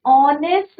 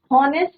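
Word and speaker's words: honest: एन ऑनेस्ट मैन, हॉनेस्ट नहीं बोलते बच्चों इसको, राइट। तो एच क्या है यहाँ पे, साइलेंट है।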